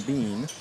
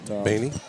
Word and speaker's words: Bainey: Normally starting is Bowen Bean, I believe. So we'll see what... Bainey? Bainey, sorry. Is that how you say it?